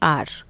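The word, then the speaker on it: hour: आर, तो एच जो है यहाँ पे साइलेंट होता है।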